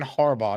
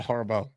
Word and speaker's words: Harbaugh: Also, just so you know, it's John Harbaugh, not Harbaugh.